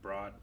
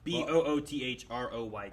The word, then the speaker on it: Boothroyd: Was Major Broad. Boothroyd. Boothroyd. Okay. I don't know how you say it. It's Boothroyd.